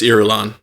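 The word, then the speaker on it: Irulan: these names uh someone help me out princess erulon all right thank you Jay Scotty and Austin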